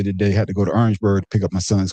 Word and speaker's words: Orangeburg: We call it Orangeburg. Not Orange. Orangeburg.